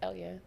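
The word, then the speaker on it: Elleyah: me at e-l-l-e-y-a-h and that is at Elya for everybody who can't um pronounce my name it's Elia um and I want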